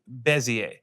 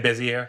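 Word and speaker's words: Bézier: The answer is cubic bezier. Cubic bezier. That's what that is. Okay. That is what that is. Thank you for pronouncing that word because you've been saying busy air.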